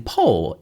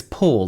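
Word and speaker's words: Poole: a beauty salon in Pole, England. I don't want to say it like that. It's Paul, not pole.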